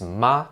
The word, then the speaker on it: 妈: Le premier ton est mā, le ton plat.